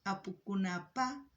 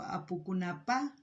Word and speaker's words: Apukunapa: En quechua boliviano sería Apukunajpa Kutimuynin. No sé si se han dado cuenta cuando digo Apukunapa y Apukunajpa Kutimuynin. Hay diferentes palabras, la forma de pronunciar. Hay variantes, pero se entiende.